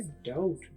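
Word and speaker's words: doubt: ना ये लफ्ज है डाउट डी ओ यू बी T spelling में तो बी है लेकिन बोलने में बी नहीं है डाउट आपने कभी बी को प्रोनाउंस नहीं करना बी साइलेंट है डाउट मतलब शक तो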